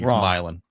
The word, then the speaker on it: Milan: it's Milan.